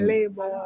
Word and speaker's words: Lebone: When you pronounce it, it's like sound American. Cause they say Lebone, they say Lebone. Lebone. I say Lebone, but it's Lebone. Lebone. It's Lebone.